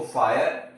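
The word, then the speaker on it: fire: इसको हम फीरे नहीं बोलेंगे। इसको वीरे नहीं बोलेंगे। इसको हीरे नहीं बोलेंगे। इसको फायर वायर और हायर बोलते हैं।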